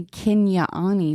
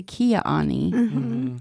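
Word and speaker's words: Kinyaa'áanii: Like, we don't say Kinyaani, we say Kiaani. And I don't know who says Kinyaani, like, but I know that's different parts. Yeah. Oh. Some people do say it like that. And I'm like, ew, I'm not saying it like that. And my grandma taught me Kiaani, so.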